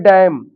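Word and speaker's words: damn: जैसे ये डैम अब इसमें एन लिखा है लेकिन इसका कोई उच्चारण नहीं।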